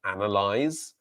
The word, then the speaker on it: analyze: So analyze is the verb to analyze, analyze, analyze, ending with the z sound, and analysis, analysis, analysis.